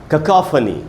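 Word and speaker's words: cacophony: उच्चारण है ककाफनी, ककाफनी ऐसे इसके बोलेंगे।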